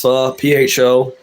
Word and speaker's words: pho: It's pronounced pho, but it's basically like